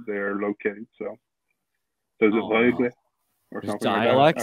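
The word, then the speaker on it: Rögle: Rogel, how do you pronounce it? Rogle. Yeah, go for it. It's the R. How do you pronounce the R? Rogle.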